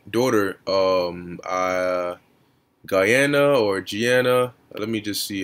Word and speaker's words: Gianna: of her late daughter um uh guyana or gianna let me just see how to pronounce that name all right oh gianno okay